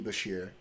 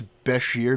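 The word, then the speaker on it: Beshear: I've said I've said watch for a dark horse in Andy Basher.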